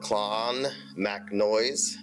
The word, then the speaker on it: Clonmacnoise: We landed at 5 a.m., got in the rental car, and made our way to Clonmacnoise. Yeah, I said it right that time.